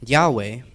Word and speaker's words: Yahweh: So ya Yahweh which is the name of God in Hebrew is spelled Y HW no vowels and they pronounced it as a breath.